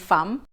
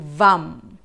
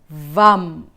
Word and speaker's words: vam: Mantra VAM ini tulisannya kalau dalam bahasa Indonesia FAM ya, bacanya mungkin FAM. Tapi di dalam bahasa Sanskerta kita membacanya menjadi VAM. VAM.